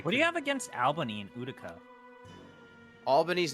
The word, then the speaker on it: Albany: your feelings about Alber it's pronounced Albany you son of a